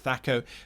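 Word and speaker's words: THAC0: you had things like thako thako however you want to pronounce it thaco as well as weapon for instances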